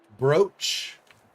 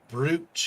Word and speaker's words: brooch: I think saying brooch is silly, but I also understand because brooch is spelled silly. O says O in English. That's, like, not a thing. But English is a Germanic language, and in German, in German and Dutch both Germanic languages, two O's does do a long O sound.